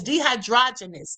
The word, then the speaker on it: dehydrogenase: dehydrogenase The word almost sounds like uh androgenous. Okay, so it's dehydrogenase. That's how you say it.